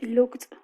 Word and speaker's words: looked: We pronounce final T after these sounds. For example, in the case of look, we have a final K, and we say looked.